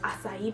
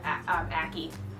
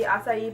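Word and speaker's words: açaí: One is aloe, and this one is acai berry. My mom can never pronounce acai right. Well, she can, but she chooses not to, and she calls it ackee.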